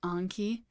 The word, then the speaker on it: Anki: Anki is a Japanese word for memory, and it's pronounced in Japanese as Anki.